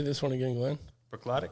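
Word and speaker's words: Bruichladdich: Brooklotic? Brooklotic.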